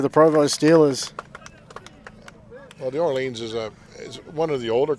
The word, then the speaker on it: Orleans: background there, the New Orleans. Is that how you say Orleans or Orleans? Yeah, Orleans. Orleans. Well, they call it the Orleans for some silly reason, but it is the Orleans.